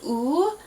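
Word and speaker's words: 우: understand that reference um you'll notice that we said ooh but it's spelled with a wo this is again one of those weird last names where in English we have added an extra letter um I don't know why probably just because it'd be weird to just go oh my last name is ooh right yeah um so we actually put a w on there to make it woo um but in the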